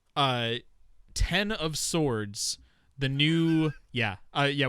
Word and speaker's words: X of Swords: and to be clear this is x of swords because it's it's called x of swords it's pronounced ten of swords yes so uh yeah